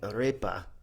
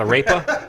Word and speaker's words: arepa: So- I just finished a giant arepa. That's how you're supposed to say it. Not a rapa?